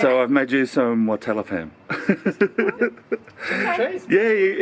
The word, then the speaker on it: Watalappam: Watalappam. Yep. Watalappam, that's the correct way? That's the name. Yep. One of our favorites. Yeah. Yeah, one's favorite. Yeah. So I've made you some Watalappam.